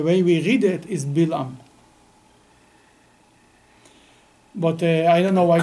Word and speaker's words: Bilam: I read Hebrew. I don't read good English. I can tell you that in Hebrew it's Bilam.